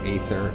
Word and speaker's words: Aether: I've always said Aether. I've heard people say Ether.